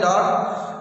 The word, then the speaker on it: door: R is silent according to British English because R is the ending letter of the word verb.